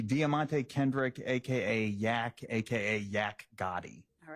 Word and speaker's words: Yak Gotti: Yak Gotti.